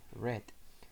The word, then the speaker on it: read: Por ejemplo, el verbo read se escribe igual pero se pronuncia diferente en pasado simple, read.